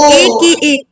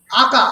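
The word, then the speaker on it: aka: খুবই বিখ্যাত ওই যে এ কে এ আকা আকা আকা আকা মানে হচ্ছে বেসিক্যালি ওটা এ কে আঁকা উচ্চারণ করতে পারো আকা মানে হচ্ছে বেসিক্যালি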